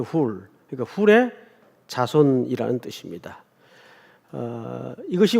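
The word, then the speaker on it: Hur: 원래 훌이라고 읽어야 돼요. 훌.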